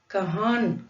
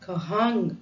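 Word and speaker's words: कहाँ: கஹா மேல சந்திரபிந்து வச்சிருக்கிறோம், அதை இன் சைலண்டா ப்ரொனவுன்ஸ் பண்றோம். கஹா. ஸோ இது மூக்குல இருந்து வர்ற சவுண்டுன்னு சொல்லுவாங்க. ஹா, கஹான் கஹாங் அப்படின்னு சொல்லாம கஹா அப்படின்னு ஒரு மூக்கோலி அப்படின்னு சொல்லுவாங்க, அந்த மாதிரி வரணும். கஹா.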